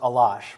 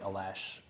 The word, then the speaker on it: Alash: So, in the Tuvan language, it's pronounced Ah-Losh, but-- John Fenn: Okay. Sean Quirk: -- in English, either is fine and I just tend to say Alash, because I'm from Wisconsin originally.